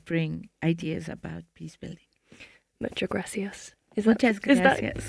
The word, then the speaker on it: Muchas gracias: Muchas gracias. Is Muchas that gracias.